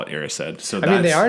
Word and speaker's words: Erised: And I've heard people read the book and pronounce it as Arised, but then whenever you watch the film, Dumbledore pronounces it as Erised.